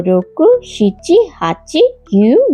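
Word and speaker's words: 九: 9কে কিউ আর কু দুটোই বলা হয়, কিন্তু কু শব্দটা আবার এই কাঞ্জির উচ্চারণ, যার মানে যন্ত্রণা। তাই কিউই বেশি ব্যবহার করা হয়।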